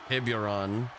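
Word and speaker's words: Tiburón: Tribianasino in control of this matchup over Jacob Morrison, looking for maybe another Tiburon. I thought I was saying it right.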